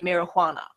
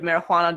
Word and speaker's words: marijuana: nitpicking over words like marijuana the a peach is pretty yeah just because your J is pronounced like an H in the word marijuana does not make the